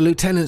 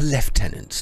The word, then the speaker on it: lieutenant: the left tenant's task I must remember to pronounce it like that of course you see the word is oh Lieutenant no it's left tenant it means it's the the the this it's the tenant of